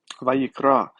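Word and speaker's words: ויקרא: Vayikra. This is a call, vayiktol, vayiktol. I prefer the modern Hebrew pronunciation of vav, of the word kara, which means to call out.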